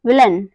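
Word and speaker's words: villain: एन आ रहा है तो इसका प्रोनंसिएशन क्या होगा अ होगा ए आई का जो प्रोनंसिएशन होगा वो होगा अ जैसे व ई ल अ और न क्या हो गया इन सबको मिलाएंगे तो क्या बना विलन विलन मतलब होता है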